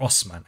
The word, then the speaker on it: Osman: Osmond Empire it was named after Osmond the first or Osman I guess as you how you would properly pronounce his name so it was then